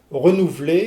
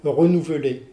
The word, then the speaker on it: renouveler: Alors, exemple, c'est de dire renouveler au lieu de dire renouveler.